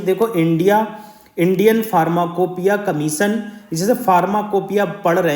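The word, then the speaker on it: pharmacopoeia: देखो Indian फार्माकोपिया commission, जैसे फार्माकोपिया पढ़ रहे हैं हम इसे, मगर इसका अलग प्रोनाउंसिएशन भी हो सकता है। मेरे हिसाब से फार्माकोपिया होना चाहिए, ठीक है।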